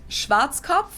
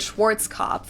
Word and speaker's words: Schwarzkopf: In German, we pronounce it Schwarzkopf, which literally means black head. I'd say Schwarzkopf. Schwarzkopf. English native speakers usually pronounce it Schwarzkopf or Schwarzkopf or something along those lines.